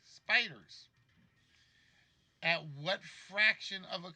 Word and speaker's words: SPDR: and poor depository receipts known as spdrs and pronounced spiders at what fraction of